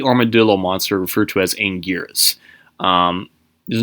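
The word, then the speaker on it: Anguirus: a bit difficult because they kept referring to him as like Angelus Angus angoras and all stuff nobody knew how to pronounce his name that wasn't until like way later where his official trademark name in pronunciation was angiras um a bit tricky to spell but regardless um it's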